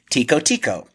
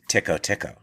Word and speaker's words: Tico-Tico: Here, Carmen Miranda sings one of her hits, Tico Tico. It's actually pronounced Tico Tico.